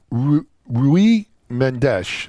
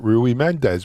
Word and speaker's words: Rui Mendes: first guest today is rui mendesh i called it rui mendez but rui is is portuguese slightly different pronunciation and i mangled it